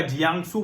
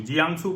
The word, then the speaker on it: Jiangsu: वहां का पूर्वी चीन का जियांगसू प्रांत है, JIANGSU, जियांगसू प्रांत। कुछ और करते हो तो आप लोग प्रोनाउंसिएशन देख लीजिएगा, मैं उसकी स्पेलिंग भी बता दूंगा।